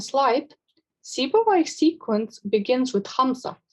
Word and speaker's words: Hamza: As you can see on the current slide, Sibawayh's sequence begins with Hamza, a glottal stop which is pronounced deep in the throat.